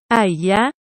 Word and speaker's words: HAYAH: la bendición de aarón se pronuncia mi nombre con solo dos sílabas a ella yo soy el único